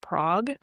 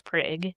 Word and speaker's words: Prague: It's a Czech town. Probably is supposed to be pronounced Prague. Right. Yeah. But we're Oklahomans, so it's Prague.